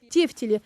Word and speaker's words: тефтели: грамотности даже привычно для на слово тефтели мы произносим не правильно ударение нужно ставить на букву е тефтели формируют грамоту речь в